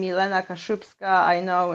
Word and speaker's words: Kaszubska: so my Facebook is like my name Elena kashupska I know it's it's struggle for not Polish